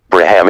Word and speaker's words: Brahman: The word Brahman is pronounced as Braham in Sanskrit.